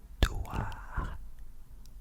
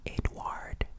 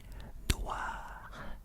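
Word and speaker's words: Édouard: Edouard, Edouard. So the D at the end is silent. You do not say Edouard. No. We say A. Edouard.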